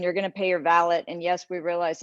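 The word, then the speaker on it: valet: going to pay your ballot and yes we realize it's spelled ballet and horse racing but we pronounce it valid rhymes with palette so you're going to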